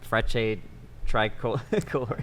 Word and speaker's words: Frecce Tricolori: Frecce, Tricolori.